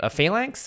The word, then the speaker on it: phalanx: Phalanx? Phalanx, yeah.